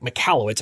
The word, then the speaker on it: Michalowicz: Now, for a long time, I had Mike, and I mistakenly pronounced it Michalowicz. It's Mike Michalowicz, I believe.